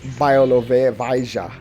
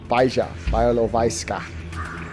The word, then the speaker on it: Białowieża: I pronounced it wrong. When I finally got it right, I got it wrong. Here's Białowieża. Białowieża.